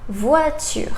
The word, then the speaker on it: voiture: And then we have O, I together. In French, sounds wa. For example, voiture.